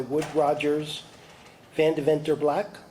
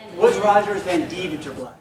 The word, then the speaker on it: Woods Rogers Van Deventer Black: And this is sponsored by Wood Rogers Van Deventer Black. Did I say that correctly? No, but it's kind of how do you say it? Woods Rogers Van Deventer Black.